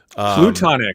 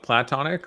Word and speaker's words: platonic: Plutonic, is that a level above platonic or? No, it's plutonic, like Pluto. No, like Plato. Platonic love. Yes, I was saying it wrong.